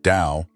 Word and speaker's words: Tao: The family name Dao rhymes with how, a fittingly Chinese word that carries the meaning of the way.